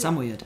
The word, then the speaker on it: Samoyed: Samoyed.